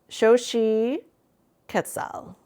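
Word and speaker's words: Xochiquetzal: Pronounced here. Shoshi Ketal.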